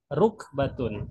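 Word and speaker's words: رُكْبَة: Kemudian rukbatun. Nah, ini cara bacanya beda. Kalau yang leher itu raqabatun. Tapi kalau lutut rukbatun. Kafnya sukun. Rukbatun.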